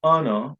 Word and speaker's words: honor: similarly what they let the word honor is pronounced without letter h as you can see